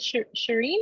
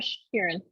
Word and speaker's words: Sharon: Is it Shireen or Sharon? Sharon. Sharon? Okay.